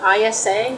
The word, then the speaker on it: Isa: in the Old Norse, it seems like most of the vowels are comparable to Spanish. So if any of you are familiar with Spanish or speak Spanish, that makes it easier. Like Isa is spelled I-S-A, number 11. Isa, right? Isn't that how, a Spanish speaker might say it?